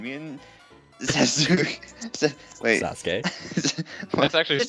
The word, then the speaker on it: Sasuke: and hungry and we wanted to find that sook wait a minute it's pronounced sasuke wait it was actually spelled correctly surprisingly hold